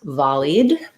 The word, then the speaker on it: volleyed: So first of all, just looking at volley, that has first syllable stress, volley. We have the vowel there, volley. So thinking about it like volley. And then if we have volleyed, we just add the D sound. So volleyed. Then you're also asking about ping me.